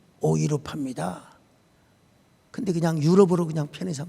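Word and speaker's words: Europa: 유럽의 원래 발음은 오이로팝입니다.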